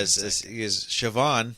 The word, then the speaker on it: Siobhan: it in a lot of Irish names like Siobhan is a very famous one yeah the be can sometimes be V yeah sioban is spelled Coban yeah s i o b a